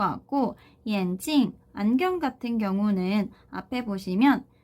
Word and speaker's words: 眼镜: 자, 그래서 함께 쓰이는 어휘들을 한번 정리를 해보면 眼镜, 眼镜. 자, 이 眼镜이라고 하는 단어는 안경이라는 뜻이고요. 뒤에 사성으로 찡으로 발음되는 거에 좀 주의를 해주셔야 돼요. 왜 그러냐면 眼睛이라고 하는 뒤에 경성으로 발음이 되는 단어가 있어요.